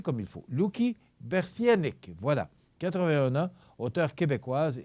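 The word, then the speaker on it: Louky Bersianik: En 2011 est décédé Luki Berslank. Je vais le prononcer comme il faut. Luki Bersienik, voilà.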